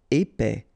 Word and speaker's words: épais: Épais, final S not pronounced, A-E together, épais, épais.